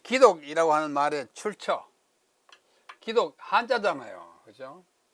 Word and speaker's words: 기독: 부르는데 그걸 우리가 도입해가지고 그것을 중국인들이 발음하는 대로 발음하지 않고 우리는 한자를 우리식으로 발음해가지고 기독 그럽니다. 기독. 기독교.